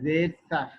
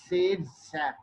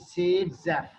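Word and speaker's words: Zaitsev: Again, vowel followed by V shall pronounce as like F. This is Sadzev.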